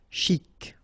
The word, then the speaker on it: chic: Okay, you pronounce the final C and then CH together. Sh. Chic.